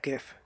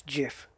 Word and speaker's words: GIF: yeah he should know it's not gif I guarantee you it's jiff not gif check it out go